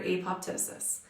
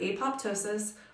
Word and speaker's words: apoptosis: program cell death or apoptosis by the way you can pronounce this word apoptosis or apoptosis depending on how fancy you want to be the Greek root word ptosis has a silent P but really either of